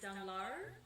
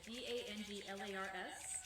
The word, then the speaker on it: Danglars: There's also a gentleman who works on the ship, whose name is Danglars, and I think that's how we're going to pronounce it, D-A-N-G-L-A-R-S, Danglars.